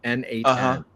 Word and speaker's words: n8n: N8N. It's literally the letter N, the number 8, the letter N. N8N.